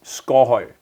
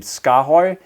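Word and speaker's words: Skaarhøj: danish i can it it's score score all right and it doesn't work super well for foreigners so this is why it became scarhoy when we brought it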